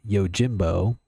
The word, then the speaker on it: Yojimbo: Well, let's go ahead and get into it with the movie that I had to look up how to pronounce. It is, in fact, Yojimbo.